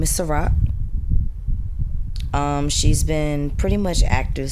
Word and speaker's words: Sa-Roc: Her name is Sa-Roc, like the drink.